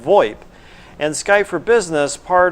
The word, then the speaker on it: VoIP: touch on something that's called VoIP it's spelled vo i p it's pronounced VoIP and it stands for voice over